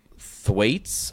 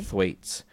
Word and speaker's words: Thwaites: So, Brenton Thwaites, I think is how they say his name. It's a weird one. Thwaites. Okay. Thwaites.